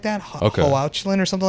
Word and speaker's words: Hoechlin: Tyler, and his last name I think is pronounced Hoechlin or something like that. Hoechlin or something like that.